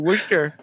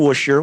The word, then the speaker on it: Worcester: Is that how you say it? Worcester. Worcester. Worcester. Yeah. I thought it was like a sh in there. There's not.